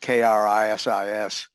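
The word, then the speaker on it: κρίσις: Krisis is pronounced Krisis.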